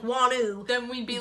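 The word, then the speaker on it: Wonwoo: Koreans say it like wanu then we'd be like doing something wrong so then we were saying Wan wo W there is not a w in the middle it's wanu and we didn't know that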